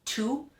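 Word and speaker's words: Tage: It's spelled T-A-G-E, but according to their site, it's pronounced 2.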